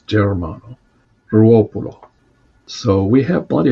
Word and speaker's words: Germano: director, a priest, Father Germano, or Germano. Some people pronounce it that way, but I think the correct Italian pronunciation is Germano, Ruopolo.